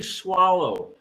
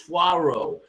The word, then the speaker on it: swallow: and swallow sparrow swallow so it's easy to mispronounce them especially swallow okay swallow you could mispronounce swaro swaro okay that's not right that's not right but